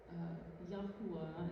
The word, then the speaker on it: Yahuwah: The Hebrew name for the Creator is Yahuwah, is like a Hebrew pronunciation for it. So you'll hear me sing that name, Yahuwah.